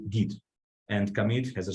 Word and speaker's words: git: stuff like that so we always say git and commit has a